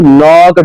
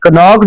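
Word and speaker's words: knocked: डू you know who नॉक्ड एट the door, ये नॉक्ड नहीं पढ़ते, ये नॉक्ड पढ़ते हैं, क्योंकि के यहाँ पर क्या होता है जी, साइलेंट होता है।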